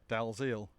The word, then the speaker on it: Dalziel: is Marcel DL, but he insists it is pronounced in the English fashion because we're in Wales, which is Dalziel.